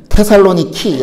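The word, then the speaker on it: Θεσσαλονίκη: dj 의 동시 그래서 그리스도 말로는 테살로니키 라고 이렇게 발음하고 있거든요 서 그런 도시입니다 뭐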